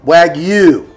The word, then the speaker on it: Wagyu: So guys, the Wagyu, Wagyu, because that's how it's spelled. It's W-A-G-Y-U, which says that you pronounce that as Wagyu.